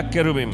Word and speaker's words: cherubim: है करूब, अंग्रेजी में शेरुबिम या केरुबिम। Yeah, in Hebrew it's pronounced as cherubim. और इब्रानी भाषा में इसको संबोधित किया गया है केरुबिम यानी करूब के रूप में।